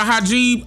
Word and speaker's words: hijab: Soon as I got into a taxi cab, young and had on a hijab, I'm getting out.